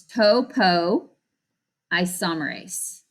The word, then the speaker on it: topoisomerase: of this enzyme top it's topo isomerase it's how you pronounce it topoisomerase and the job of